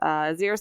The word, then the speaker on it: Xyris: There's no way for us to know how to pronounce this. It's Xyris or Xyris or Xyris or... It's Xyris.